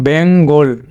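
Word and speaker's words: Bengali: এরপরে এটা যদি আমরা এটাকে যদি এটা যদি তোমার বেঙ্গলি করি তাহলে কিন্তু এখানে যদি আমরা একটা আই দিই বেঙ্গলি, তাহলে কিন্তু এই এলের সঙ্গে একটা তোমার আই দিতে হবে, এটার শেষের আইটা কিন্তু একটা ফোঁটা হবে, এ হলো বেঙ্গলি। বেঙ্গলি এটা তিনটা থ্রি সিলেবল ওয়ার্ড হয়ে গেল বেঙ্গলি।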